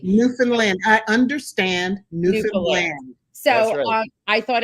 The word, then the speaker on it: Newfoundland: new I'm learning how to say it correctly Newfoundland I understand so I thought everyone in Newfoundland